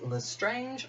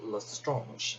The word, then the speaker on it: Lestrange: or if you will, Lestrange. It really depends on how you pronounce the surname. People have been telling me different ways to pronounce it ever since I started saying Lestrange.